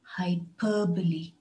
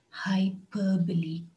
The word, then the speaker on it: hyperbole: pronounce the word hyperbole the stress is on the second syllable hyperbole hyperbole a hyperbole is nothing